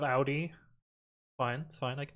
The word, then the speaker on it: Audi: hard to say because we germans pronounce it out audi i mean yeah the americans it's audi because we're wrong but i can be more correct and go with audi fine that's fine i